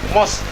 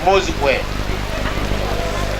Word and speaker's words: mosque: When I was in P2 in Jahande Primary School, we had a teacher reading the word mosque as mozikwe. So we all knew that word is read as mozikwe.